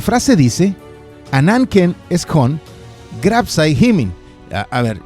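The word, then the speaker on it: ὑμῖν: La frase dice: Ananken eskon grapsai himin. A ver, yo sé que ahí está una U, pero se pronuncia como I. ¿Qué quieres? Yo no escribí el griego. Comienzo de nuevo. Ananken eskon grapsai himin parakalon epagonisestai.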